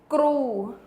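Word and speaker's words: គ្រូ: Kru is K, R, U in tooth. Kru, kru. Remember the R is rolled.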